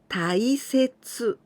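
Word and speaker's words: 大切: This kanji also can pronounce tai. For example, taisetsu.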